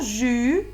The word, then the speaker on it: jus: Dans le mot jus, j'entends la syllabe jus au début. Jus. Et je prononce pas le S. C'est un son muet.